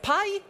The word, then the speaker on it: pi: What was the right English pronunciation? Pie? Pie? Would you like a slice of pie with a cup of tea? No, Klara. I was talking about the Greek letter P, or pi.